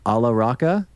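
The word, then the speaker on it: Alla Rakha: But is it Ravi Shankar and Ala Raka? Beautiful. Nice.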